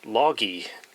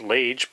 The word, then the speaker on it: Lage: see the brand name there apparently that is pronounced log e I would have thought it was pronounced lage but on the back of the bag they